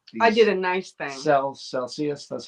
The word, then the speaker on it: Celsius: Celsius, that's how you say it.